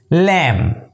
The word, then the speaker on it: lamb: debt it's that next lamb it's your lamb l a m lamb l a m lamb correct nature it's plumba it's